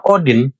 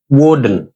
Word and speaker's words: Odin: Cuma pelafalan Odin itu bukan Odin tapi Wen jadinya Wen's dayibet kan?